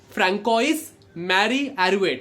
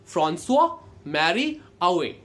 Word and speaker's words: François Marie Arouet: उसका प्रोनाउंसिएशन निकलेगा Francois Marie Arouet, but Francois Marie Arouet is not the right pronunciation। Because he was from France, French pronunciation कुछ ऐसा आएगा, François Marie Arouet। Okay, so François Marie Arouet, or we will call him simply as Voltaire।